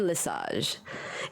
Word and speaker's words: Lesage: do I pronounce Dion Lesage is it Le Sage or lasage it's a massage okay Dion lasage and this guy is